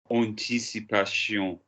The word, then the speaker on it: anticipation: So how do we pronounce A-N? Look at me, find me the vowel. En.